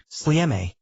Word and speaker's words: Sljeme: Exactly, all the way up to the main peak, Sljeme, which is pronounced S-L-E-H-M-E, and that sits at 1,073 meters.